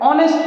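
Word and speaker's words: honest: सिर्फ आपके लिए एन ऑनेस्ट मैन एच क्या है? साइलेंट है। ऑनेस्ट मैन ऑनेस्ट ठीक है?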